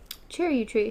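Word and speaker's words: Charyou tree: "Char you tree," she said at last, pronouncing it as Roland had, chair, which I thought was interesting. Chair you tree.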